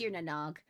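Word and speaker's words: Tír na nÓg: Princess Stagtyre tried I know how to pronounce that. It's Tirnanog.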